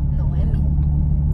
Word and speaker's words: Noemi: Noemi. There's a lot of Naomi's. But not a lot of Noemi's.